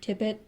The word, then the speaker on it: Tippett: Tippett? Stop it. Are you going to knock it over? Or are you just going to tip it? Okay, I got you. That's how you say it. Tippett.